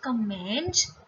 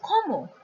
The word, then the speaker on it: comment: Now, see the first word. This is not comment, this is comment.